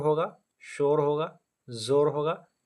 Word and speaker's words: ज़ोर: ज़ोर वाव मजहूल है।